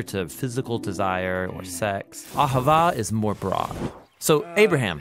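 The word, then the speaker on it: אהבה: languages as it is in ancient Hebrew it's pronounced Ahava it both basically refers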